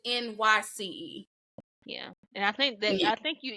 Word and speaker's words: Nyce: And it is spelled, it's not Nice, it's Nyce.